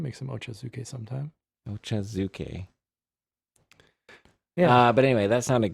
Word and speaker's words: ochazuke: i have it written down so i can pronounce it right ochazuke yeah yeah ocha being tea yes it's like